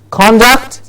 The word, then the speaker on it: conduct: D u CT yes the noun is conduct yes conduct the all sound heard clearly